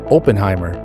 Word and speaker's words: Oppenheimer: is David Oppenheimer but everybody in Vancouver who's from Vancouver we say open High now in the movie